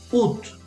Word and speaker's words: août: Okay, this one, you have to pronounce the T, so you say août. Août.